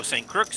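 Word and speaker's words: St. Croix: St. Crooks, St. Thomas, and St. John. I'm assuming those are the U.S. territories. Oh, the X is silent.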